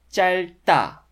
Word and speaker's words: 짧다: The second consonant of the consonant cluster is silent. So the stem is pronounced 짤, and the initial d consonant of 다 turns into 따 sound. So it becomes 짧다, 짧다, instead of 짧다.